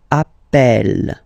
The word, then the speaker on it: appelle: That's the reason why you pronounce it appel, appel, okay?